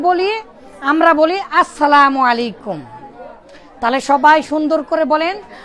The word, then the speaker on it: আসসালামু আলাইকুম: আপনি কথা বলতে গেলেই কি বলেন, ইংলিশ ভাষীরা কি বলেন, আমরা ইসলাম, আমরা মুসলিম, আমরা কি বলি, আমরা বলি আসসালামু আলাইকুম।